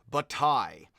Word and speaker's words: Bataille: It's pronounced with a Y, so that is bataille, is how it is pronounced. As in bat and then a tie, so you have a